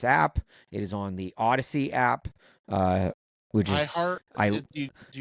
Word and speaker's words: Audacy: telling people download the Odyssey app, and then you have to spell it because it's AUDACY. It's a punny name, which is perfect for an audio-only medium. It's like, it's Odyssey, but then you have to spell it.